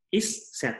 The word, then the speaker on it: isset: Isset kayak gitu ya bacanya, tapi digabung langsung jadi isset.